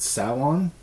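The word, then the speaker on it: Samhain: of m h e i n but it's pronounced saon yeah so or like the have you ever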